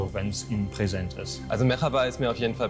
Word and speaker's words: Merhaba: Und Sie haben sogar die Aussprache vollkommen richtig gebracht, denn die Betonung liegt auf der ersten Silbe und es ist ein gerolltes R, das, was mir absolut fehlt. Guten Tag, Merhaba.